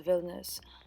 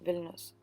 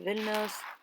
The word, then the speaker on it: Vilnius: about to go to Vilnius oh my god I pronounced it so wrong villainous I don't know why like foreign people pronounce it the villain years and I started viewing